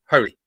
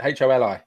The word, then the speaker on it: Holi: quickly is that right holy holy pronounce it holi don't know an international